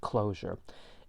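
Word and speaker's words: cloture: in the summary below it's spelled with a t as opposed to an s but pronounced closure and a 60 majority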